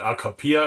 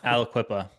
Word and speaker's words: Aliquippa: So it's more like municipality based, obviously, but I'm looking towards I can't even pronounce it. Alcapia or whatever it's called. Aliquippa, yeah. Aliquippa. I think they're pretty reasonable to work with.